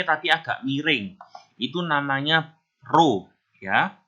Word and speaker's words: rho: Itu namanya rho ya. Tulisannya RHO, bacanya rho.